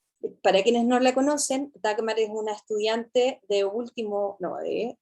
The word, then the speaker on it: Dagmar: Yo estoy en último año, entré en 2017, me llamo Dagmar, se pronuncia así, Dagmar.